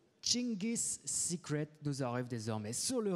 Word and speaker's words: Dschingis Secret: qui on a pris des cours de prononciation ce matin avec Chingis Secret, prononcé ainsi.